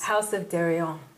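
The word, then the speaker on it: House of Deréon: House of Darion. Yes. Right. Listen to you. Oh, I learned you fast. You pronounced it right.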